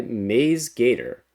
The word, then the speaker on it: MaizeGator: Today's puzzle is called Hello Friends by Maze Gator or Maze Gator is I pronounce it's that maze right corn maze.